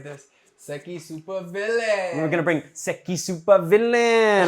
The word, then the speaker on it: SEKI Supervillain: You gotta say it like this: SEKI Supervillain.